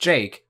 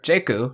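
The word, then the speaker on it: JK: president next is jake spelled with j and k but pronounced jake or jeku in japanese he's like an info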